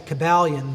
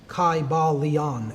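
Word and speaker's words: Kybalion: Y sounds, you know, it would have been a long I sound. Kaiba Leon and every syllable would have been pronounced.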